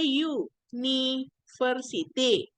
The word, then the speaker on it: university: sound sama consenan Sounds kalau University kan cara bacanya you niversity you Ya You itu hurufnya